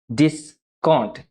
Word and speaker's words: discount: और ये रहा हमारा थर्ड वर्ड डिस्काउंट। ये डिस्काउंट नहीं है, इसको हम डिस्काउंट, डिस्काउंट, डिस पर ज्यादा जोर देकर काउंट थोड़ा शॉर्ट, डिस्काउंट बोलते हैं।